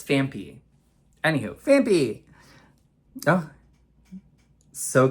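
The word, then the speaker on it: Phanpy: I always say fanfy. It's Fampy.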